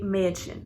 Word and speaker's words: Mädchen: So for example, you have the word Mädchen, which is girl. So instead of pronouncing it like an A, like in Apfel, which is apple, you'd say Mädchen.